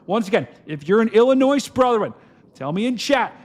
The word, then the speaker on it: Illinois: Illinois, that's the correct way to say it.